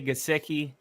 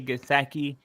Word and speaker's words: Gesicki: Some say Gesicki. I say Gesicki. Honestly, it makes me kind of Gesicki when I hear people say it wrong.